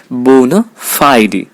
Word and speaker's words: bona fide: syllables in this case Phi gives the primary accent in the primary stress bona fide bone fide does the reason why Phi sounds louder than the other syllables anyhow bona fide e